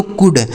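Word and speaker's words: could: इसे पढ़ते हैं दोस्तों कुड सी ओ यू एल डी इसे पढ़ेंगे कुड मतलब हो जाता है सका क्या हो जाता है सका यहां पे जो एल होता है ना दोस्तों यह साइलेंट होता है इसे नहीं पढ़ा जाता है ठीक है जैसे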